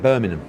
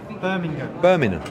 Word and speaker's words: Birmingham: Birmingham. Yeah. It's no, but you're missing the G. It's not a silent G. Yeah, but that's because... It. Yeah, but it's a silent G in Essex.